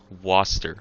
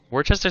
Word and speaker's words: Worcester: pronunciation is the same as the UK one Worcester oh God I wasn't even close Worchester sounds so much cooler